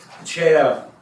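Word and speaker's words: CEIA: It is pronounced CHA.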